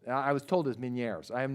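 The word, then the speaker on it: Ménière's: so you have to the pronunciation is French I was told as Meniere's I am not French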